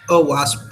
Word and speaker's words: OWASP: called OWASP, but I don't know how you pronounce it. Yeah, it's OWASP.